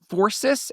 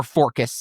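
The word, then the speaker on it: Phorcys: being the children of Forsus and Keo or Forcus and Keo depending on which period of history you're in and if that's a soft C or a hard K.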